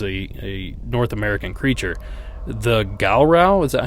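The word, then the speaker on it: Gowrow: The Galrow, is that how you pronounce that, out of Arkansas? Oh, the Goro? Oh, Goro.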